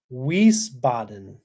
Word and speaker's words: Wiesbaden: Um, Alicia says it's pronounced Wiesbaden, Wiesbaden.